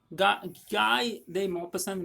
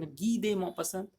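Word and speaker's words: Guy de Maupassant: तो कहानी गाय दे मॉपसन, गी दे मॉपसन एक्चुअली इसका प्रोनाउंसिएशन होगा जो इसके टाइटल है।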